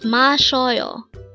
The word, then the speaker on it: 마셔요: It's mashyeoyo. Again, mashyeoyo. This pronounces a three-syllable word. The first syllable is ma, second syllable is sho, and third syllable is yo.